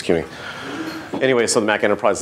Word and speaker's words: CUNY: CUNY, I may be saying it wrong. No, it's CUNY.